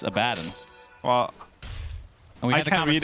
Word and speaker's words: Abaddon: I say Abaddon, even though it's incorrect. Right? How do you say that? It's Abaddon.